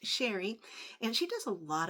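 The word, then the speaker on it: Cheri: That's c h e r i, but it's still pronounced Sheri and she does a lot of unboxings as well as purse sales as well.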